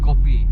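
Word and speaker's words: kopi: want to order copy they put a k o p i yeah copy it's spelled you know it's actually English copy copy so copy means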